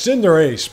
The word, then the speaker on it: Cinderace: It's Cinderace, by the way. That's what it's really supposed to be pronounced as.